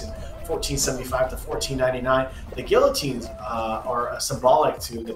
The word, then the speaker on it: guillotine: fact you're actually pronouncing guillotine not guillotine well oh my god it is a it is a french word it's like pico de